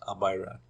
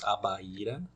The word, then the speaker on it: Abaíra: In English that should be some pronunciation like Abaira, but in Portuguese, Abaíra, Abaré, Acajutiba, Adustina, Água Fria.